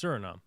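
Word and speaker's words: Suriname: It's Surinom. Okay, good. I was question I was questioning myself based on the spelling.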